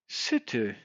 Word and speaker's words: city: they would be saying city, city. You get the difference? City. The same sound before the T and after the T. I. That's a short I sound. I. Not E. I.